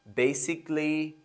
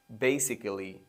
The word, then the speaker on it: basically: A is usually silent when it is followed by double L, Y. Logically, basically, and artistically. Now, I've heard most of students pronouncing basically.